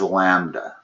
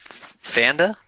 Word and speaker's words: lambda: And the way you pronounce that is lambda. That's the Greek letter lambda. Oh, okay. So we multiply by Fanda, is it? Lambda? Land, okay. Lambda? Gotcha. Yeah, it's from the Greek alphabet.